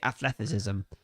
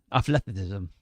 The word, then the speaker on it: athleticism: It'd be like, "No, that's not how you say it." Like, you say athleticism. Oh, I think I just said it then, didn't I? Yeah. Athletism.